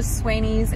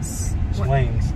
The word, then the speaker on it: Swain's: Okay, so we was going to go to Swainy's and get dinner. Huh? Did I say it wrong again? Yeah. Swain's. Swain's.